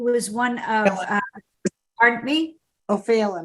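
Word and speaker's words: Ó Faoláin: O'Fallon, I think it's pronounced.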